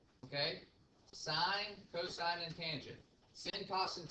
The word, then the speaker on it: cosine: It's pronounced sine, cosine, and tangent. Okay? Sine, cosine, and tangent.